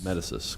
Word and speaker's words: Medisys: Is that pronounced Medisys? Medisys, correct. Sounds like Greek mythology.